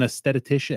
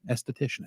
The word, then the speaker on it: esthetician: I know who's an aesthetic tissue esthetician esthetician it's the correct pronunciation I none of them